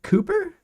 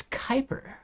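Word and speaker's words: Kuiper: I can't pronounce that is it Cooper and they should rightfully so yeah dude Tesla it's lost like 30% Kyper oh it's Kyper interesting I didn't know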